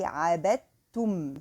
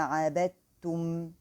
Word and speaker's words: عبدتم: So here there is a kind of merging also for the letters dal with the ta. So here we say عبدتم. So the ta should be pronounced as tu.